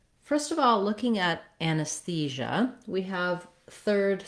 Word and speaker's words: anesthesia: Generally speaking, if you start on the stressed syllable and build the word, it typically helps you get the rhythm of the word more easily. So in this case, you would try thesia, thesia, anesthesia, so that the anus is